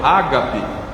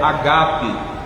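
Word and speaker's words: ἀγάπη: agap ouv falar do amor Ágape tá errada a pronúncia tá pronúncia correta é agape o acento tá no segundo azinho não é é agap é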